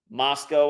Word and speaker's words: Moscow: trip outs to Moscow that is the real right way to say it Moscow Idaho until next time